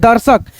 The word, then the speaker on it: दर्शक: कैसे पढ़ रहे हैं दर्शक है ना ध्यान रखना रेफ की मात्रा जिस अक्षर पे रहे उस अक्षर से पहले हम र का उच्चारण कर लेंगे आधा र में जैसे दर्शक हर्षित तन